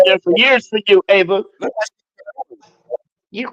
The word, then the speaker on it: Eva: And your name is pronounced Ava.